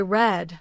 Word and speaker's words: read: So you pronounce this like the color red, but you spell it exactly the same.